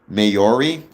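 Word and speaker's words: Māori: Mayori, not Mayoris. I'm the worst at pronouncing things.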